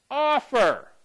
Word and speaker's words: offer: Let's try another one. Offer. So what sounds better? Offer. Offer. I like the first one.